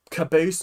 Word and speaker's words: Caboose: Caboose just rhymes with Bruce, and Bruce is a very Australian name.